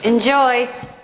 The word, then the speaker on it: enjoy: Enjoy. Enjoy, enjoy, second syllable stress.